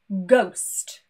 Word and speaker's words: ghost: But if we continue with this example of GH, sometimes we do pronounce the G, but the H is silent. For example, ghost or gherkin.